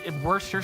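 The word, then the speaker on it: Worcester: Anyway, if you want to show respect to the people that live in Worester, you say it is Worester sauce. It's It's even It's much easier to say, too. You drop off a whole five letters, a whole syllable. Um, so it's not that people have necessarily been saying it wrong, but they have been making it harder on themselves to like do that. They've they've been making it harder on themselves than they have to.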